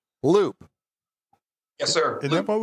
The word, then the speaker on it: Loupe: It's Loop. It's spelled like Coupe de Ville, just with an L. Loop.